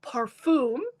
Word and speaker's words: parfum: Laila Perfume, Parfum.